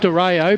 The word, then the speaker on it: Dario: Lachlan Harry had front spot, and then coming through was Calvin Dario. Is that the pronunciation, Brash? I call it Dario.